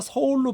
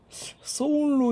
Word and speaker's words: 서울: 써 우레아 & 이런 우리가 서울로 발음하는 데 솔로 이제 그 유럽계 쪽 사람들은 발음을 하고 있는 것 같아요 그래서 젠 나라 88년